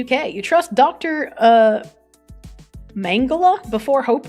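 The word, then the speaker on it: Mengele: think you pronounced it mangala really is it's pronounced mangala that sounds so stupid pronounce fragile yes you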